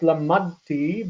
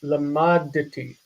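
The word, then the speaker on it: למדתי: So we need to pronounce that dalet with a vocal schwa, even though it's in the situation where it should be silent. Not lamadti, but lamaditi.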